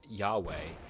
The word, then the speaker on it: Yahweh: JHVH, often pronounced as Yahweh, is a sacred name for God in the Hebrew Bible, or the Old Testament.